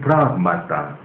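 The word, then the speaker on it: πρᾶγμα: things, it's been translated pragmata. Things in Greek is pragmata. Write down P-R-A-G-M-A-T-A. You can pronounce it pragmata. Yes. Plural. Think, the singular, in Greek it's been translated pragmata. The singular is pragma. P-R-A-G-M-A.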